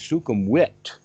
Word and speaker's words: Sukhumvit: called Sukhumvit, except that it's not Sukhum, it's Sukhumvit, because they have the V sound is said like a W.